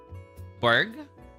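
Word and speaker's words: Burgh: He's from generation five and Berg. Okay, Berg. Thank you. Thank you for letting me pronounce helping me pronounce it.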